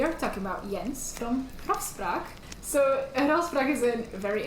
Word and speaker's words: Grafspraak: on their website, They have a grafspraak.be. Grafspraak. Which is a very hard to pronounce if you've been speaking English the whole time.